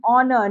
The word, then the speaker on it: honor: Before words that begin with silent H, honest boy and honor. Now here H is silent in honest. Okay, and then in honor also H is silent.